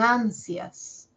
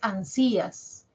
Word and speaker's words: ansias: tenga abierta abierta ya por ejemplo en ansias cuando escuchamos las sílabas sias la mayor fuerza de voz la tiene a no es ansías ansias as suena más la i es más cortita ya dura menos la